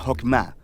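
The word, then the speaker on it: חכמה: hacemos que es esta fuerza en hebreo se pronuncia hoffman y usualmente se traduce al español como sabiduría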